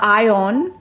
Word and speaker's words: Ione: in english so um from that information i want to call this villager ione however that's more of from my understanding of english being one of the few languages that pronounces the letter i i um so usually if i were to see the combination of letters a i i would maybe more more inclined to say ione um or i own so the there's a